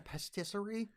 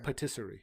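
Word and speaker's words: pâtisserie: And he says, I don't want to find a pastisserie. Yeah. Which I probably mispronounced there. Patisserie. Patisserie.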